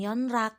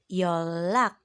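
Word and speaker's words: 연락: contohnya ada kata yeonra bacanya bukan yeonra tetapi yo lak yo lak nasalisasi adalah bunyi yang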